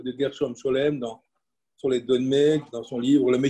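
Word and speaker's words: dönme: disait Tony sur les donmés. Moi, je croyais que les donmés, parce que ça se prononce donmé en turc, donmé, comme le donneur, ça veut dire retourner.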